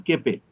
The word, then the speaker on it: Koeppe: Actual pronunciation is keppe. Keppe lens.